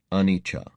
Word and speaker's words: anicca: You do it for liberation through seeing the anicca, pronounced anicca, impermanence, dukkha, suffering, and anatta, no fixed self, selfless nature, of all we experience.